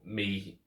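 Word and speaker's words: μ: than me y or mea so that that's why it's written my okay so it's pronounced me but not pronounced my but doesn't matter what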